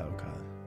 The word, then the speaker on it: The Alcott: The Alcott, that's how you say it, the Alcott.